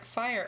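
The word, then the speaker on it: Phire: tricky uh my character fire over here for example spells his name with a pH rather than an F fire with a pH and fire with an F are pronounced exactly the same but the pH is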